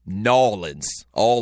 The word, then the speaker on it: New Orleans: Orleans if you're from New Orleans or New Orleans um I don't know what the proper way is to say it the people down there they say nin all like one word n a WL i